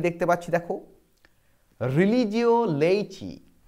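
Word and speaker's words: Laici: 6 নম্বরে কি দেখতে পাচ্ছি, দেখো রিলিজিও লেইচি, উচ্চারণটা কিন্তু লেইসি নয়, উচ্চারণটা হচ্ছে লেইচি, রিলিজিও লেইচি বা এর আরও একটা টাইটেল আছে, তাকে বলা হচ্ছে এ লেমেন্স ফেথ, যেটা 1682 সালে পাবলিশড হচ্ছে।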